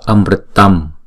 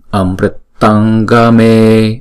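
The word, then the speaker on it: अमृतं: Chữ này đứng một mình chúng ta đọc là Amritam ha, tâm. Nhưng mà đứng theo sau chữ nó là chữ G, chúng ta đọc bằng phần guttural ở trong cổ họng, thì chúng ta phải chuyển chữ Anuswara này thành chữ ng. Amritam, Amritangame, Amritangame ha.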